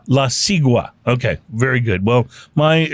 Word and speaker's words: La Sigua: Oh, it's La Sigua? La Sigua. Okay, very good. Well, my Spanish pronunciation is better on some words.